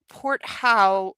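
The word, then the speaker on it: Porthault: I believe it's pronounced port how rather than cardboard, private nurse rather than shelter, capital P O R T H A U L T.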